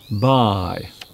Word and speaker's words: buy: Buy.